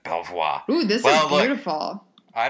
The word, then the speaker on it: Belvoir: an e then yeah i don't think you pronounce the r that sounds very fancy when i say like that belvoir ooh this is beautiful